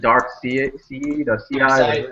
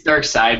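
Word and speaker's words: Darkseid: mad guys, and then Dark CI. No, it's Dark Side, but it's spelled all weird.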